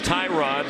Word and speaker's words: Tyrod: Yes, Tyrod. Just ask him, and we did, to make sure that first name is pronounced that way.